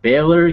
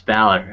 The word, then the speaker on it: Balor: gets the pin and Baylor comes in or Balor I I I always pronounce it differently but it's Balor I'm sorry I apologize